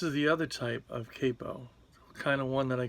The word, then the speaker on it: capo: This is one type of capo. Some people say capo, but I think that that's a mispronunciation.